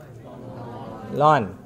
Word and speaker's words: ln: Ln. Don't come to me and say I n. Some your seniors say that to me, I n, and I remember I shout directly, ln.